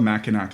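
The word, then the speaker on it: Mackinac: it's like carfree Port Washington um it's called maak Island it's this island in the middle of the Great Lakes yeah so it's ma it's pronounced ma or whatever but so that's the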